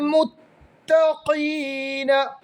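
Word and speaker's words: متقين: ഇന്നൽ മുത്തഖീന, ഖാഫ് ഉച്ചരിക്കുമ്പോൾ ശ്രദ്ധിക്കണം, മുത്തഖീന കാഫ് ആയി പോകരുത്.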